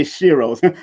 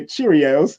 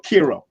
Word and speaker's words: Cheiro: Or they say Shiros. Some people might jokingly say Cheerios, but no, it's Shiro. It's Shiro or Kiro. Depends on how you pronounce it. Depends on the pronunciation.